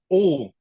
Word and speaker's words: Uhl: I have here O from 𝐿_NATION.